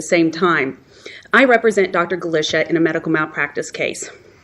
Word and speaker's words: Galichia: I represent Dr gisha and that they are pronounced Mr turnis and Dr gisha this case as most you most of the